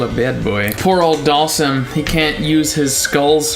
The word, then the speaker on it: Dhalsim: what toast I've never heard that interpretation Dhalsim who I don't like it it's always been sim people even call it him like sim for short can't even care if that's like the correct pronunciation it's the wrong pronunciation these sprites are still